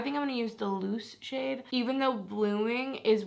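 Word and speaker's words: Luz: guys all told me it's loose I think is how you say it it's l-u-z and I was saying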